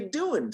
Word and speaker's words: doing: the correct word the real word is do wing with a g on the end but in english we chop off the g we it's it's very rare that a native english speaker would pronounce the g here so we just say what are you doing tonight okay and the